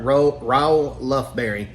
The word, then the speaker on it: Raoul Lufberry: Let me pronounce it right. Ro Lberry.